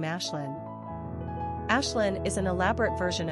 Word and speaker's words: Ashlynn: The name Ashlynn, pronounced Ash plus Ling, derives from the Gaelic word Ashling, which means dream or vision.